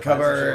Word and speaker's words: cupboard: garage anyway no David unlock it I'm probably covered right here I'll get it why is it pronounced covered when it's clearly spelled cut board